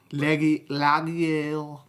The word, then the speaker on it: Laugier: I'm talking the 2008 Pascal Laugier, which is how it's pronounced in French, Martyrs. I doubt it's pronounced that way. Laugier. You have to act like you're You about to and choke.